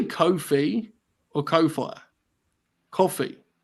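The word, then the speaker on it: Ko-fi: Coffee. I think it's meant to be pronounced coffee because the whole thing Coffee.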